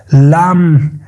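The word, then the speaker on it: lamb: صدا هسته و چه زمانی در کلمات صدا نمیده وقت بی در آخر کلمه قرار بگیره و ما قبل بی حرف ام قرار بگیرن یا حرف ایم باشه در او صورت او حرف بی تلفظ نمیشه کاملاً بی صدا هسته کاملاً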